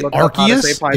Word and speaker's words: Arceus: It's Arceus, bro. It is unfortunately Arceus, bro. You're just going to have to accept that it's Arceus. Game Freak don't know what they're talking about. Yeah, I've Game seen Freak Arceus is incorrect.